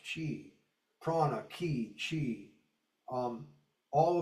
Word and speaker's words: qi: Chinese qi is pronounced chi prana kiq chi.